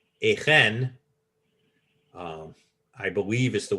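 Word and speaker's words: Achan: it's probably a guttural there isn't a CH in Hebrew so I when I see a CH I immediately think a guttural or a hay which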